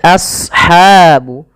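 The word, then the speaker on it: أصحاب: Kemudian pelafal ashabu. As-sad, ya, huruf sad tebal, jangan as, jangan sin, tapi as ya, a-nya tipis, sadnya tebal.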